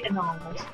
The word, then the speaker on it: annals: No, because I know how to say annals. I don't, so I would have just said anal.